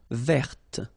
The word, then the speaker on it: verte: Feminine form, verte. So listen carefully. I don't say te, but it's t.